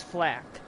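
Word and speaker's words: FL4K: Flack I guess yeah his name is Flack because remember technically claptrap's name is cl4 TP gotta make twitch lady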